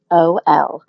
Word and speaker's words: xylitol: You got to read it on everything because xylitol. Monica, can you just spell it out so people would know? Because it kind of, it spells out a little different than it sounds. Absolutely. It's xylitol.